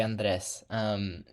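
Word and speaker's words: Andrés: It is actually Andres.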